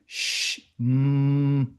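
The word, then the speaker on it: שמר: Then he uses to connect the sheen again and he gives a sh and an M and a R sound. So you go shamar.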